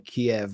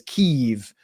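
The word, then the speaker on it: Kyiv: a subway station in Kiev which you have to now refer to as keev because you have to use the Ukrainian pronunciation of everything which even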